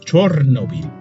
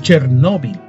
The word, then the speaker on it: Chernobyl: a los lugares Pues en el original ucraniano es chernóbil en ruso es chernóbil igual que nuestro idioma por ser una palabra llana y finalmente la pronunciación anglosajona que se ha difundido debido a los canales de noticias Chernobyl entremos ya en materia